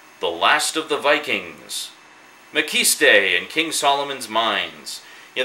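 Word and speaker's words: Maciste: And I say Mckiste, but throughout the Mckiste movies, it's actually pronounced Mckist or Mckiste, depending which one you're watching.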